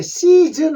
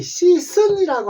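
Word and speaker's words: season: 우리가 계절 할 때 시즌 하지 시선이라고 안 하잖아요 시즌입니다 그죠 그래서 즈 소리에요 니은 침에서 소리 나는데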